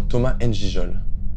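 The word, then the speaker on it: Thomas Ngijol: Je sais pas comment on prononce son nom. Ouais. Est-ce que votre nom est bien Thomas N'Jol?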